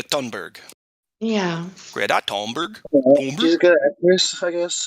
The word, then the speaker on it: Thunberg: look look at that I do believe the H is silent you guys Greta thunberg yeah great October I